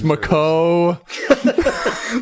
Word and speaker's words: Macau: I don't even know if that's how you pronounce the Macau Islands. And you have to use their. It's Macau.